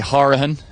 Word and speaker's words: Horahan: Okay, so we're down here with Molly Horahan, which is pronounced the Cork way.